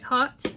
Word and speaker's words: haute: shadow and white white hot and it's spelled haute like white hot like poked couture and this is beautiful